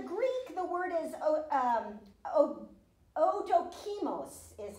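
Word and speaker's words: ἀδόκιμος: In the Greek, the word is odokimos is how you pronounce it.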